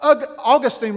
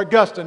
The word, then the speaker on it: Augustine: What Augustine was saying, or Augustine, and the reason I keep saying this is because people pronounce it different ways, and so I'm trying to accommodate all of you.